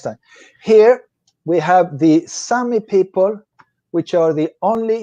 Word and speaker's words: Sami: Here we have the Sami people, which are the only indigenous people in Europe.